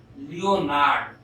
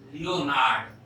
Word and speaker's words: Leonhard: It was the great mathematician Leonhard Euler. H is silent. Leonhard नहीं, Leonhard.